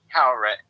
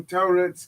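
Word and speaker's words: Taweret: No, Tauret's correct. Yeah. The Well, way they pronounce it in the here, show is incorrect. Well, here's the thing. Here's the funny thing. He was giving a British pronunciation to the name.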